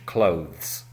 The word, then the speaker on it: clothes: So, for example, she wears very stylish clothes. It is difficult because we have 'th' followed by 's' but it has to be close together in pronunciation.